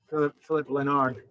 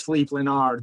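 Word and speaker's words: Philipp Lenard: you guys are thinking his name is flip philip leonard think again no that's not the way it is pronounced it's fleet leonard this guy is german he's this guy's german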